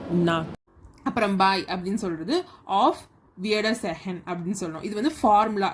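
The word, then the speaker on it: Auf Wiedersehen: அப்புறம் பாய் அப்படின்னு சொல்கிறது ஆஃப் வியர்டர் செஹன் அப்படின்னு சொல்லணும்.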